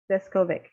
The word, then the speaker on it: Deskovic: to help me please um welcome mr jeff zeskovic thank you very much thanks for having me and by the way you did pronounce my name correct awesome i was just